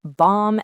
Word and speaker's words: bomb: Same for climb, bomb, and the word doubt. The B is just along for the ride.